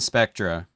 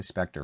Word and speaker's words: Spectra: one Umaga not familiar Kurt Angle on the Spectra pronounce it right for once I always say Specter for some reason the A and the r